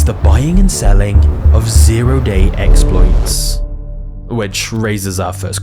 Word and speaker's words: zero-day: buying and selling of zero-day exploits. Which raises our first question, what the hell is that? A zero-day, sometimes pronounced O-day, is essentially a flaw